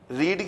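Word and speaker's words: read: Spelling से होता है, अलबत्ता उसको रेड पढ़ा जाता है, रीड, रेड, रेड।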